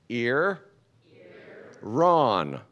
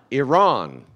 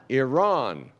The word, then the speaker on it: Iran: me to distraction that these two countries are each just two syllables and most Americans mispronounce both of them so if you would repeat after me ear Ron Iran Iran now a good ear